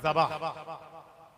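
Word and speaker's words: ذبح: আমরা জবাই বলি, অ্যাকচুয়ালি জবাই না, উচ্চারণটা হচ্ছে যাবাহ।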